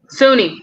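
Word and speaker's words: Suni: a little about how you say itusa Lee Sunni just say Sunni a ain't nowhere Sunni Lee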